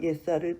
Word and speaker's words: 예수아: 우리는 예수아를 통해서 토라를 보게 되고 토라를 통해서 예수아를 보게 되는 것입니다. 그래서 이 토라가 바로 예수아라는 것입니다. 제가 예수아라는 말씀을 예수 대신에 예수아라고 쓰는 그 이유는 원래 예수 그리스도 이름이 예수아라는 것입니다. 히브리 발음으로.